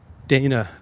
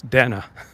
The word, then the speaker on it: Dana Bash: wasted because Dana and it's not Dana Bash it's Dana so if you have